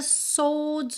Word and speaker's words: swords: Aqui é muito importante pra você lembrar que a gente não pronuncia o "w" de "swords", então não é "swords", tá? "Swords", "swords". Como ele também não enrola o "r", né? Então, a gente tem "swords", como se fosse um "s" "o" bem longo, meio